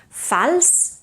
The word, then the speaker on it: fals: Fals is pronounced with an S, but fals associat is pronounced with a Z, voiced Z.